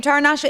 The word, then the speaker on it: Taranasha: it's just one name taranasha is one name with with four syllables taranasha so why don't you